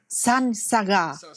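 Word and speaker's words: saṃsarga: Bởi chính nó, sam, khi kết hợp với S nó đổi thành S-A-N. Phát âm đổi thành san, sansarga.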